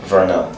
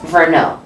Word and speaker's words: Verneau: Verneau. Verneau. Okay, because I said Verneau. Yeah, it's Verneau. E-A-U. In French, it's pronounced like Oh, a O.